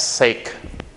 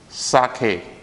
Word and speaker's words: sake: And I believe that you must have mispronounced this as sake. But it's not that, it's sake. Sake.